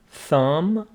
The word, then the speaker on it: thumb: here elbow elbow hand thumb B is now pronounced and finger or fingers